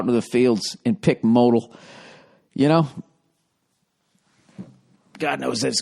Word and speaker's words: modal: It's pronounced modal.